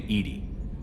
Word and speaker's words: EDI: Why are you named Edie? EDI is the phonetic pronunciation of I, acronym for Enhanced Intelligence.